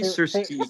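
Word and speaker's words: Syrskyi: The commander, he's listed as the commander in chief, and I'm going to butcher the pronunciation of his name, Alaskander Sersky. Sersky. Perfect, Searcy. Yeah. Cersei. Perfect. Yeah, great.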